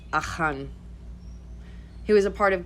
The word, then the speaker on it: Achan: Okay, but there was a man named Achan, which is the English pronunciation. And I believe in Hebrew it's Achan.